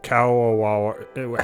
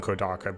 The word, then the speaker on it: Kadokawa: If you guys didn't know, Kadokawa, however you pronounce it, I always used to call them Kodaka, but I already know that's not how you pronounce it.